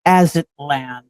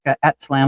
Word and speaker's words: Aztlan: And I think I pronounced it wrong. It's Aztlan. It's Aztlan. And I always pronounce it like Atzlan, like that.